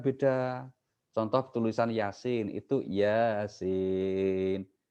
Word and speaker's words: Yasin: Itu kan biasanya A-nya double tuh karena panjang toh. Sin-nya juga double, I-nya panjang gitu kan. Tapi ada yang karena nggak belajar, nggak ajari guru, akhirnya bacanya apa? Ya Asin. Itu kan beda ya Asin gitu kan. Bukan Yasin tapi ya Asin kan beda akhirnya. Karena A-nya 2 toh dianggap dibaca dipisah. Ya Asin.